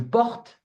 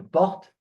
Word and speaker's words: porte: Je porte. So remember, the E at the end is not pronounced. Okay? Forget about it. It's not pronounced. So you stop at the T sound. So, je porte, tu portes, il porte, elle porte, on porte.